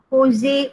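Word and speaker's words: José: Kita sebut Jose, kita tak sebut Jose. Ya, walaupun namanya J, kita pronounce sebagai H. Jose Rizal.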